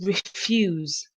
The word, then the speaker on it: refuse: the street and then the second word is refuse refused showing unwilling to do something or say